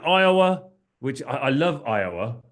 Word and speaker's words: Iowa: which I I love Iowa it's it's it's got four letters but three syllables how cool is that